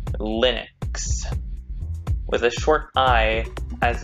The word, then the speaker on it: Linux: this recording he pronounces linux linux with a with a short but close unrounded front vowel commercial and popular uptake